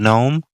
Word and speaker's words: gnome: son was a good gnome to the I mean it points to the Scottish people being greedy and such did you just say no no gnome yes why or dwarf the g is silent okay but this is